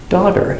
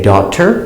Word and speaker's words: daughter: The mother and daughter, pronunciation, daughter. You can say daughter with a t, but in America we say daughter.